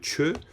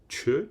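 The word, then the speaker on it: ཆོས: ça veut dire que Chö, déjà je le prononce avec la bonne expiration, c'est très important, Chö, Chanaro Chosa Chö, et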